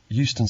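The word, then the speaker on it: Euston: yes it's Steve Smith of 31 Green Road Houston Center London NW 4 R sorry I didn't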